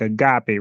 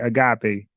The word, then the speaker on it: agape: you can say um you can say like agape, right? Agape. But if you read it without knowing how to pronounce it, you're going to say a gape.